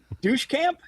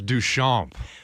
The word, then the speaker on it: Duchamp: Douche camp? Very close. That was very, very close. Douche What camp? is it for real? It's Duchamp. Marcel.